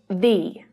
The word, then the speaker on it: the: The lazy schwa sound, Can I use the bathroom?